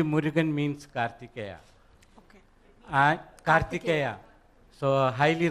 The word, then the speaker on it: Murugan: who know who who struggled to pronounce murica actually murugan means karthikeya okay so